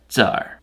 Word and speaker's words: Tsar: Ivan took the title Caesar, or as they say in Russia, Tsar. Also, spell it like this. It's closer to how it's actually pronounced in Russian.